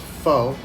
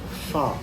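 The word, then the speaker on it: Phở: check out fall house germantown and it's not pronounced foe it's not like forget about it it's fall okay um like pha almost like a [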